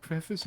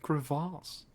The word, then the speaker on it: crevasse: It's like people saying crevice instead of crevasse.